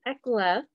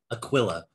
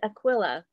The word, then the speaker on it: Aquila: is the feast of priscilla and ekla pardon my pronunciation they are aquila aquila see i'm already there we go priscilla and aquila they lived in the